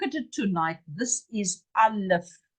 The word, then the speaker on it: Aleph: Aleph, Aleph. An F like in fish. A-L-E-P-H. Aleph. Aleph. This is our first letter. Its value is 1. It is the front. It is the beginning. It is a very important letter. It doesn't have a sound.